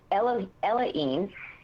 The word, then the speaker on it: Elohim: I had a lifetime as an 11th density being, and he said it was Elohim, not Elohim, but it's Elohim was the pronunciation.